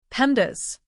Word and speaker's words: PEMDAS: Just say pendas. Say it like this. Pendas.